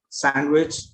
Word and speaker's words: sandwich: Okay, and there are some random words also that have the D silent. For example, handkerchief, handsome, sandwich.